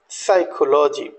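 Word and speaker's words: psychology: यूडी ट इ SIDO next one इ साइकोलॉजी तो पी को या हमने साइलेंट रखा है ऐसी और भी वर्ड्स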